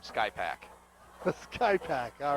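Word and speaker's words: Skrzypak: Is that how we pronounce it? S-K-R-Z-Y-P-A-K. Oh, there's got to be P-C-A-K. Oh, it's probably one of those Polish names where half of those letters are silent. You pronounce it Smith. Call him Sky Pack.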